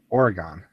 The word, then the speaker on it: Oregon: Oregon. There's no E after the N. It's not Oregone. No, it's Oregon.